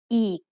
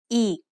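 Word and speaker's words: อีก: So this word is pronounced eek. The word eek means again. Did you notice the tone when I say eek? It's a low tone.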